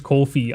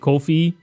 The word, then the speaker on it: Ko-fi: Um, also apparently it is Kofi. I literally had to search how is it pronounced and apparently the people that made Kofi pronounce it Kofi, which is weird because I